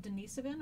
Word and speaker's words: Denisovan: One of these groups is called Denisovan or Denisovan, however you want to pronounce that is fine, but I believe it's Denisovan.